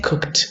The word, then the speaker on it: cooked: Cooked and cooked. This is with a t pronunciation, so we pronounce cooked, cooked. We don't pronounce cooked, all right? We say cooked. Look at the example.